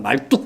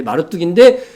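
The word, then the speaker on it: 마르둑: 어떤 사람 말뚝 이렇게도 발음을 하는데 마르뚝인데 마르뚝은 용으로 표현해놨어.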